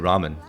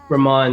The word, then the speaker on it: Rahmaan: I've been, is it pronounced Rahmaan or is it Ramen? Rahmaan, yeah, you got it.